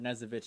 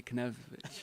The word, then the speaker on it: Knezovich: for you to learn knezovich his last name I was want to say connect nope that K is silent but he cleared the